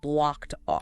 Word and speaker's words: blocked off: The ed in blocked again sounds like t and it links smoothly to off. Blocked off.